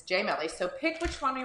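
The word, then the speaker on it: gemelli: So it sounds like gem in English, but we say it as Gemeli because it's Italian.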